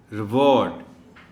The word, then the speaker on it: reward: रिवॉर्ड, एक तो ऑ sound है इसमें, वॉ, और दूसरा प्राइमरी स्ट्रेस जो है वो डब्ल्यू पर है. रिवॉर्ड, रिवॉर्ड भी नहीं, रिवॉर्ड.